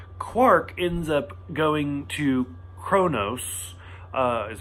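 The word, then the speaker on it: Qo'noS: the main plot quark ends up going to Chronos is how you say that the Klingon homeworld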